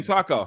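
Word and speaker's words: Tako: said the same thing Taco yeah yeah it's it's it's but it's not spelled Taco it's spelled t-a-k-o you can look it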